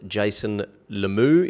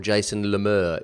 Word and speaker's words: Jason Lemieux: JasonLemieux, and it's pronounced Jason Lemieux if you're in the States, or Jason Lemieux if you're in Canada, or Jason Lemieux if you're an Australian like me.